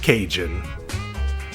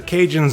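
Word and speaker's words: Cajun: And then over time as the word ocadian passed through various American dialectical filters for a few decades, it eventually came to be pronounced cinjun. That's the Canada cinjun connection for you.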